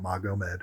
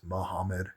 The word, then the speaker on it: Muhammad: The name of Muhammad, peace be upon him, Nur is celestial light. That's what his last name means. And also Muhammad Ankalaev, that's his name. It's not Magomed, it's Muhammad, G is H.